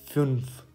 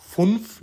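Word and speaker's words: fünf: और यहाँ पे था फ्युन्फ, फुन्फ नहीं बोलना, फ्युन्फ, और स्वोल्फ।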